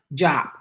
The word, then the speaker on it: Diop: sagana diop oh oh decent oh it's sagana job is how you say it i'm looking at